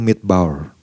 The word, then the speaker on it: midbar: Ternyata kalau Bapak Ibu melihat dalam bahasa aslinya, bahasa Ibraninya, kata padang gurun ini di situ disebut kata padang gurun ini adalah midbar, ya. Midbar. Dibacanya tuh midbar.